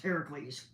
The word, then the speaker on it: Heracles: is mispronounced Hercules but obviously but it's actually pronounced Heracles now as early as as Homer we learned